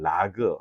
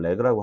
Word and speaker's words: RAG: 어 두 번째 역시 레그예요. 레그. 라그 RG 뭐 이렇게 어 세 가지 발음으로 쓰이는데 저는 렉그라고 하고 싶어요. 그리고 우리나라에서 렉그라는 단어로 좀 통일을 좀 시키고 싶습니다.